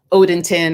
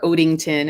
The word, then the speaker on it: Odenton: of fort meade and odenton or odington is it pronounced even though there's no ing in it right no date on